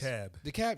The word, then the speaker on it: DeKalb: Yes, DeKalb. That's how you pronounce it.